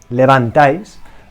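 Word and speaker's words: levantáis: using vosotros in Spanish Levant dice my tip is to pronounce ice okay like yellow in Spanish I use like a cube of ice okay what you put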